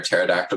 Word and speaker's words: pterodactyl: can't you hear a pterodactyl go to the bathroom? I have never heard. I don't know. Because the P is silent.